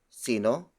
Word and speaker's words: sino: see no see no see no see no see no spell does s I no.5 an S I